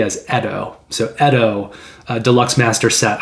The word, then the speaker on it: Yedo: actually pronounced correctly as edo so edo deluxe master set i think the y is silent although it is commonly pronounced yet oh by board gamers i